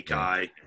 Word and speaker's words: Kai: But I've heard K pronounced all the different ways. K, Kai. Yeah. Yeah. Either one works, and he was such a nice guy who would answer to both.